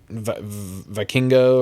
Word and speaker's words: Vikingo: This was still a great match, don't get me wrong, but I don't think Vikingo, or is that how you say it? Vikingo, yeah.